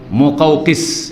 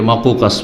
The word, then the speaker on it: মোকাওকিস: তো ইসকান্দারিয়া এলাকার রাজার উপাধি হতো মোকাওকিস। কি? শুদ্ধ উচ্চারণ হচ্ছে মোকাওকিস। এটাকে অনেকে ভুল পড়। শব্দটা একটু কঠিন উচ্চারণের দিক থেকে অনেকে মাকুকাস পড়ে ভুল পড়ে তো এইসব মকাকেস একে